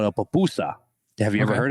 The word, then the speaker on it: pupusa: A pupusa, it's spelled Pupusa.